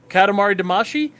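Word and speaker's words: Katamari Damacy: heard about this one and I went oh Katamari damashi and he went oh oh thank you for pronouncing it correctly oh yeah Power nerd y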